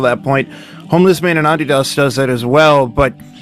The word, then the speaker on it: Adidas: So then we have the penultimate track, Homeless Man in Adidas, which, yes, I'm going to pronounce it like that instead of Adidas because remember, I'm trying to become spiritually Australian, so I have to.